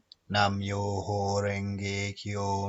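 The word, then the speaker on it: Nam-myoho-renge-kyo: So I think it's pronounced Namyaha Renge Kyo. Hang on. My fiance can pronounce it, so I'm just going to go and get him to say it for me. Okay, go. Nam-myoho Renge Kyo, Nam-myoho Renge Kyo, Nam-myoho Renge Kyo.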